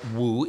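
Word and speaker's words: 武: It should be pronounced Wu.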